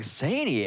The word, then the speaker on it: Saini: So Saini. Saini? It said say and then ni.